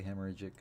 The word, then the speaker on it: hemorrhagic: I think it's hemorrhagic, because it's hemorrhage with an IC, and then the pronunciation key says hemorrhagic, so it's hemorrhagic. Hemorrhagic. Hemorrhagic. You enunciate the hemorrhagic.